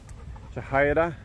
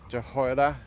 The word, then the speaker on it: Jehoiada: So we're continuing to read through the king's accounts and reading about Jehoiada. That's how I pronounce his name, the priest who brought up